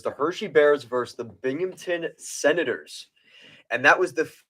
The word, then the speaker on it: Binghamton: Beaverton, Binghamton, New York. It's spelt like it sounds.